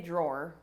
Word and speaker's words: drawer: can display some of my own homophones because I pronounce this word exactly how you pronounce draw, as in to draw your sword. I say drawer.